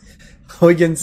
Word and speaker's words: Huygens: Apparently it's pronounced Huggins, so Huygens it is.